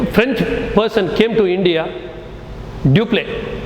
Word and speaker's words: Dupleix: Next, another person who came, a French person came to India, Dupleix. Not you don't pronounce as duplex. Dupleix. The X is silent.